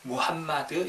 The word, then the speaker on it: 무함마드: 추천 어 마음엔 트라고 하는데 이 표현은 잘못된 발음 이구요 약간 영어식 빵 바탕 때 올래 이제 언어는 무함마드는 이에요 왐마 드 어 그래서 우리 이제 어